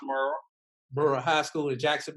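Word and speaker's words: Murrah: way the first time they understand is pronounced Muro Muro High School in Jackson Mississippi first of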